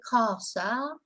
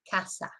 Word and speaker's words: casa: So we don't say casa or pagar. You know, we've got to remember, you've got to think of the northern way of pronouncing things, which is the short, I call it the short A. So it's like, as I say, glass instead of glass, grass instead of grass, etc. So remember, short A.